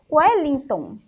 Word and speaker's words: Wellington: Nós temos Wellington. Então, o E tem o som de U.